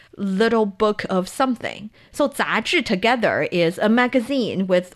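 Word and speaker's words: 杂志: How do you say magazine? 杂志. 杂志. Perfect.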